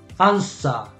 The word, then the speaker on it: answer: Answer. Recuerda la W muda. No se pronuncia.